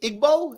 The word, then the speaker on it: Igbo: right and then there's Yoruba and is it Igbo am I saying it right yeah evil thank you evil yes Evo is fine you can just say evil IBO thank you yes so I know there are